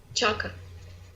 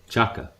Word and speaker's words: Xhaka: one thing of course chaka chaka yeah like in cheer yeah alright so that's genic true okay good black granite chukka fair enough it's their pronunciation of Albanian so okay so does